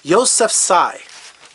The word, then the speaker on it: Yousafzai: Yousafzai. I spelled it how it sounds. Malala Yousafzai.